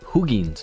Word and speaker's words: Hugin: out how to pronounce hugin's name something like that um it's really hugin like it doesn't doesn't sound different than how it's actually spelled I mean obviously I